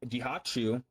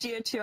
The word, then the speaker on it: Jiachu: Anywho, I'm here with Random Humor and Jihachu. These guys both showed me not only Yeah, a lot DMs of people. Hold on, Jen, let him finish. It's pronounced Jiachu. A lot of people get that wrong.